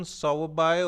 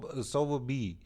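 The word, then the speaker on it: Sowerby: sauri and Mrs Medlock this you can call it Susan sawabai or so sober B both right this is a proper noun so our pronunciation may be different right you can call it Susan's over by or sober B okay so first is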